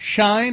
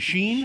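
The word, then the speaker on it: Shein: Fast fashion giant Shine, I think is how you say it. Sh I Is it Sheen?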